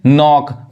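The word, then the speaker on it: knock: यहाँ देखिए, नॉक, खटखटाना।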